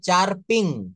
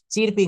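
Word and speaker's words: chirping: যেমন সি এইচ আই আর পি আইএনজি এটা উচ্চারণ হবে চারপিং। কি হবে? চারপিং। আমার সঙ্গে বলবেন চিরপিং না। এটা চারপিং।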